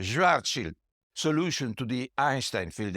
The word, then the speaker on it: Schwarzschild: I know that in America people say Schwarzschild, but anyway, I'm using the German pronunciation. Schwarzschild solution to the Einstein Field Equation.